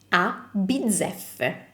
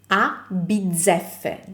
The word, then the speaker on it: a bizzeffe: This can be a little bit hard to pronounce at first because it has double Z and double F. For double Z, just remember pizza, so bizzeffe. And for the double F, just keep the sound of the F a little bit